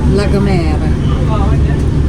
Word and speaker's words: La Gomera: Yeah, so how do you pronounce it? La Gomera. Yeah, Gomera. Gomera. Yeah, and it's La Gomera.